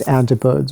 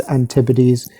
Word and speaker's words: antipodes: modern antipodes map uh i've been pronouncing this antibodies but apparently it's antipodes so they mistake the